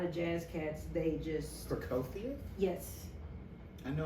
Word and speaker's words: Prokofiev: jazz cats they just procofia yes i know i just pronounced it wrong no you didn't okay that's correct it has a f on it yes an f or a v depending on it oh okay just like